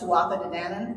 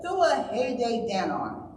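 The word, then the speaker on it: Tuatha Dé Danann: I mangle this the I always thought it was pronounced tuatha danan but apparently it's the thua Danon I had I had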